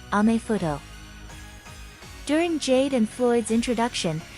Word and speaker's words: アメフト: In the katakana alphabet, American football is pronounced American football, and much like majifuto, it is colloquially known as amefuto.